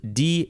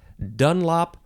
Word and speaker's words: Dunlop: Dunlop is next and you can emphasize either syllable it has a capital D and it is spelled d-u-n-l-o-p Dunlop or Dunlop this is